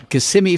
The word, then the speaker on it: Kissimmee: which city does not have an Elvis Museum Kissimmee Florida I said it right that time Memphis